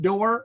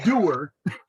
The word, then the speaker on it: Doerr: glad that your name your last name isn't pronounced door or else you would have been door going door to door it's doer in some parts of the country it might be will